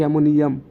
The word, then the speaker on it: অ্যামোনিয়াম: আর এটা মিলে যাবে না মানে দুই থ একটা উপরে যাবে এটা নিয়ে যাবে এমোনিয়া মানে হা করার মত আর এটাকে অ্যামোনিয়াম মানে মুখ অফ করার মত আশা করি বুঝতে পারতেছো